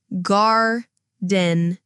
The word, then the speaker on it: gardening: Listen, gardening. The stress is on gar. The R sounds like the R in car.